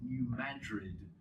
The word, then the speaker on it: New Madrid: The most probably immediately well-known example is the New Madrid. That's the correct American pronunciation, by the way. Madrid, not Madrid. But anyway, it's a place in central United States, Missouri or something like that.